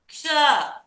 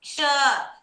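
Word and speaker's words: क्ष: Ksha. When you say the word rickshaw, iksha you say, no? Like that you have to pronounce. Ksha. Iksha. Ksha. Along with the ik sound you will pronounce.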